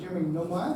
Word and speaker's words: Nilmeier: And in a moment, we're going to be able to welcome up Jeremy Nilmeier. Have I pronounced that correctly?